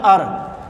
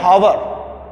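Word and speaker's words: hour: After this मैंने लिखा है अर, एच डिड not pronounce, H को प्रोनाउंस हम नहीं करते, और आवाज जो हम निकलती है वो ओ से निकलती है, ओ इसका वाउल, इसका तलफ़ुज़ क्या होता है, अर। हम ऐसे नहीं कहते कि हावर, जो भी ऐसे हावर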